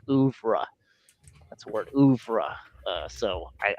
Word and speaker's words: oeuvre: Because I just think there's other things on here that tell more of a tale and connects better with his overall like oeuvre.